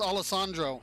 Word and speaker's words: Alessandro: Yeah, it's Alessandro. See, I'm pronouncing it right.